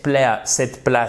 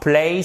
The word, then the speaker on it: place: On recommande vivement cet endroit, pas cette place, cet endroit. Place, c'est le lieu, l'endroit. Et ça se prononce avec une diphtongue, chers amis.